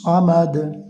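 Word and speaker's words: الصمد: মিম জবর মা, দাল পেশ দু। এই যখন অক্ফ করলেন, তখন মিম দাল জবর মাদ বা সাকিন হয়ে গেল। আল্লাহুস সামাদ।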